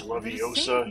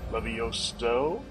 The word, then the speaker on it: Leviosa: Today she's going to teach us Leviosa here.